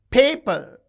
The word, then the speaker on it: paper: In a diabic word we can observe this paper. You can see the first syllable is stressed paper.